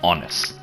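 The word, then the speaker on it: Aonghus: right so up next we've actually got the onus armor now this is most likely where we get the name angus but ian irish is pronounced honest now in irish mythology honest is the the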